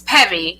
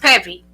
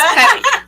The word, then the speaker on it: Peavy: peave you can go there or it's Peevy it's pronounced pevy but a lot of people say PE but it's Peevy so it's pevy but um you can